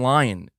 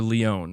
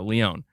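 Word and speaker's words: Lyon: Or Leon, is that how you say it? Sorry, I keep saying Lion. I know, Leon. There we go, Leon.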